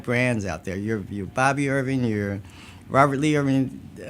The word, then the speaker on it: Baabe: And I said, well, I need to change the spelling so that phonetically it sounds like Baabe.